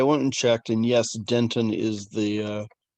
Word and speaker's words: dentin: that mixed up because there's the gum named dentine which of course it comes from the same root but it's not pronounced the same so dentin is the